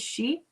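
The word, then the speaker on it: sidhe: Um and it's spelled si th which in Irish is she.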